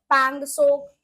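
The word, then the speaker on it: Pangong Tso: वो वही है पंगस पंग सोक लेक ठीक है जहां पर टी जो है वो साइलेंट रहता है ये ऐसी लेके कि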